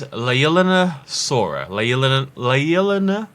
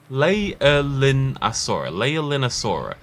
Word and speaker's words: Leaellynasaura: This is Leaellynasaura. Leaellynasaura. And the reason it's called Leaellynasaura is because the paleontology team, the couple who discovered this, their daughter was called Leaelyn. So it's Leaellynasaura.